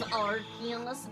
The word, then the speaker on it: Arceus: It's pronounced as Arceus.